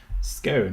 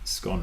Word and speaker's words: scone: Scone rhymes with cone. Scone rhymes with con.